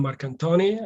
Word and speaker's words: Marcantoni: last name the way it's supposed to be pronounced uh my name is marcantoni i'm the local author coordinator at the cup